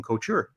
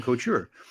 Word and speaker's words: Couture: what do you mean it's Logan Couture and I said yeah Logan culture I don't know Logan go tour no Logan Couture and it was a 50-minute conversation we all agreed I was saying it wrong I I can't say